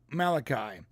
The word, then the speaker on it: Malachi: But it's Malachi.